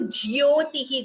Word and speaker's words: ज्योतिः: So here please note all of you, Jyotihi, the pronunciation it is Jyo, Jyo, Ja and Ya.